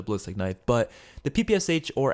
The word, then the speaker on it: PPSh: but the ppsh or actually how it's supposed to be pronounced is the pipisha i think is how it's supposed to be pronounced i think i heard someone say that on twitter but yeah so i'm just